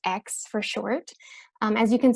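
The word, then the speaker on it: Aix: little bit intimidating to say but it is pronounced X for short as you can see on the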